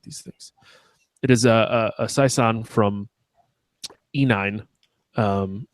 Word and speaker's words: saison: That's as for saison, that means season. I fucking love saisons. Did I say it right? Saison. No. Saison. Son. More of a Z.